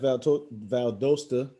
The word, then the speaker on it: Valdosta: I know you had great success at Valdosta. Am I pronouncing that correctly?